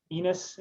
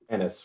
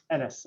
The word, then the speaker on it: Ennis: Her and Enos, and again, is that right? Ennis rhymes with tennis. Ennis, okay.